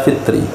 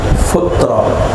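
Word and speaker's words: فطرة: Imam Ibni Abid Dam bacanya dengan domanya zakat futra Bukan fitr tapi Putra dendom Mafa u istihbaban mengawali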